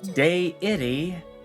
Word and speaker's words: deity: Deity, long A sound.